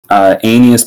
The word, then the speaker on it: Aeneas: and I lost two aeneas playing tto it's pronounced in me yes yeah and he is